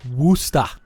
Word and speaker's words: Worcester: from twitch we have worcester is pronounced woosta and it is it's